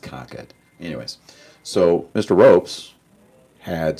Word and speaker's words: Concord: It's not Concord, it's pronounced Concord.